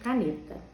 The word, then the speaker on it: caneta: Eu não escrevi nenhum exemplo, mas vamos ao exemplo caneta. Caneta é uma palavra que não tem acento. Então, qual é a sílaba forte? O tá, caneta, o cá, caneta, o ne, caneta.